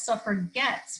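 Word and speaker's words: suffragettes: this intended insult and called themselves suffered guts with a hard g to signify that they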